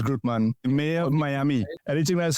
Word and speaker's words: Grutman: I don't even know how you pronounce it. It's Grutman.